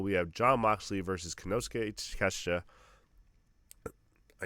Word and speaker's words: Konosuke Takeshita: We have Jon Moxley versus Konosuke Takeshita.